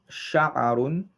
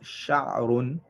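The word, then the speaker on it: شعر: You have the word sha'arun, and we said also can be pronounced sha'run here.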